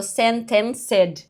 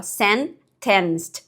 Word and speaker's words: sentenced: Ó, aqui o Gemini não foi tão bom na pronúncia de sentenced. Ó, ele falou sentencedor, ó. Sentensed, ele tá mais preciso, né?